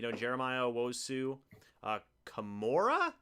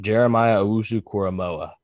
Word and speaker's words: Jeremiah Owusu-Koramoah: I mean, Jeremiah Owusu, Kamora, I think that's how you say it. Jeremiah Owusu-Koramoah.